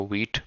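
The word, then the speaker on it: Vite: config.js and I usually uh you know use wheat and white as alternative pronunciations but the concept Remains the Same it's wheat okay and then we are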